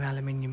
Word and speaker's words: aluminium: Yeah, look, they're all brand new aluminium body panels. Or as the Americans say, aluminum.